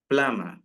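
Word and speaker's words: plumber: ശബ്ദങ്ങൾ സൈലന്റ് ആയിരിക്കും അപ്പൊ ഇവിടെ ബി എന്നുള്ള ബ എന്നുള്ള ശബ്ദം സൈലന്റ് ആണ് സോ അത് സ്ട്രെസ്സ് ചെയ്ത് അല്ലെങ്കിൽ അത് ഉച്ചരിക്കരുത് സോ എങ്ങനെ പറയാം പ്ലം പ്ലാമർ പ്ലാമർ യെസ് റിപ്പീറ്റ് പ്ലാമർ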